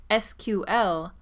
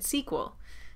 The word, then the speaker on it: SQL: pace of our videos by pronouncing SQL the long way. But in everyday life, I'm used to calling it SQL, so both of them come out of me.